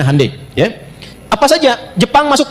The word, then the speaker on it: Hyundai: Ya Hyundai saya tahu bahasanya, dibacanya Hyundai.